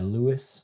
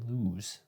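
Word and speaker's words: Lewes: Yeah, Lewis. I keep wanting to say lose because of the way it's spelled.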